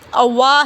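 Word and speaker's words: أوى: ہوا ہے اول فتیتو، اگر اول کو یعنی کہ اوا کو اکیلا ہم پڑھیں گے تو اوا پڑھیں گے، واؤ کہیں گے الف، اوا، ٹھیک ہے، اوا درست تلفظ اس کا اذ اوا ہے، اوا، جب پناہ لی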